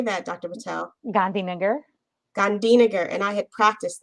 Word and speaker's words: Gandhinagar: Gandhinagar.